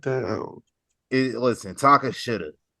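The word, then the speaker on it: Tekashi: Takasha. Tekasha. That's how you say it. Tekasha.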